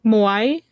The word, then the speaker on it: Moai: people, and they're the ones who created the Moai. I think is how it's pronounced. I could Yeah. butcher that. I'm sorry if Yeah. I put it. No, you said it right. You said it the right. Moai.